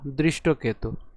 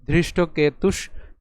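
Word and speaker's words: ধৃষ্টকেতু: স্যর একটু খেয়াল করি এখানে ধ রয়েছে দ নেই যদি দ থাক থাক থাক থাক থাক থাক থাক থাক থাক থাক থাকতো তাহলে এর উচ্চারণ হতো দৃষ্ট কেতু কিন্তু যেহেতু ধ র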